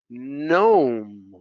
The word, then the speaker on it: gnome: several several all right how about the silent g sign foreign foreign foreign gnome right champagne right so these have silent g's how about the i